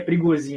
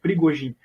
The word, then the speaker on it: Prigozhin: Na verdade, muita gente fala que é Prigozhin, né? Mas parece que a pronúncia certa seria Prigozhin.